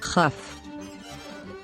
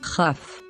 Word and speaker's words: כ: Kaf, Kaf, But when there is no dot inside, we pronounce it with a guttural sound. Chaf, Chaf.